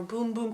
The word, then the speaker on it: Bum Bum: Something that I don't know, from CeraVe, the Bum Bum Cream or Boom Boom Cream, someone said it's pronounced.